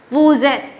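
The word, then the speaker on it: vous êtes: So with wo, okay, eighth verb is conjugated as eth. So you pronounce it as woozeth, woozeth.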